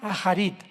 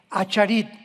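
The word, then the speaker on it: אחרית: Postreros es acharit, así como suena con CH, se pronuncia acharit, acharit.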